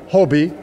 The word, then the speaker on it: HOBY: H-O-B-Y is pronounced Hobie, and that's short for my name, Hugh O'Brien Youth.